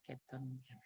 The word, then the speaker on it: Cape Town: Nah, bacanya Cape Town.